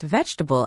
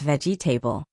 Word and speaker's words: vegetable: My classmates laughed once when I mispronounced vegetable as veggie table.